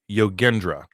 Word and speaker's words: Yogendra: do okay all right yogendra g as in garden so yogendra so hopefully i'm saying